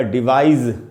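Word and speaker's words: devise: अच्छा, यही वर्ड जब वर्ब की तरह इस्तेमाल होता है तो ये एस से ख़त्म होता है और इसका उच्चारण हो जाएगा डिवाइज। ज का इस्तेमाल करेंगे, डिवाइज, और तब इसकी मीनिंग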